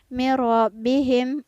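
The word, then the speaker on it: مِنْ رَبِّهِمْ: Kemudian pada lafaz mirabbihim, bandingkan ya dengan lafaz sebelumnya tadi. Mirabbihim ada nun sukun yang bertemu dengan huruf ro, maka nun sukunnya tidak terbaca.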